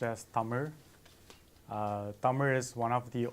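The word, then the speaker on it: தமிழ்: the name of our language itself it is pronounced as summer summer is one of the oldest languages in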